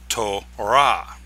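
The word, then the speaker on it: תורה: But in Hebrew, the closed syllable comes at the end. So in Hebrew, this is pronounced tora.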